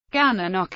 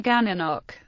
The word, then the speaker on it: Gananoque: The town's name rhymes with the place name Cataraqui, which appears in the Cataraqui River, the Little Cataraqui Creek, and the Cataraqui Cemetery in nearby Kingston, Ontario. One way to remember its pronunciation is the right way, the wrong way, and the Gananoque.